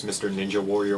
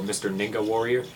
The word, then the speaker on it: MrNingaWarrior: mr ninja warrior works my buddy 1217 onslaught calls me uh by the actual uh pronunciation so mr ninga warrior um some other people on youtube call me by mr ninja warrior again i really don't